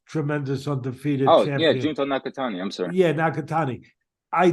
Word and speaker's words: Nakatani: fight in Japan to fight how do you pronounce his name? NJ? No, to fight the Japanese tremendous undefeated Oh, yeah, champion. Junto Nakatani.